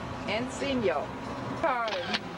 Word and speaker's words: Encino: In how do you pronounce this? Encino? Encino.